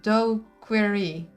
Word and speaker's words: daiquiri: It's pronounced do-query.